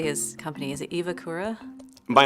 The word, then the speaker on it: EVAkura: Is it EVAkura? I'm the owner of EVAkura Armor, and I'm from Whidbey Island, Washington.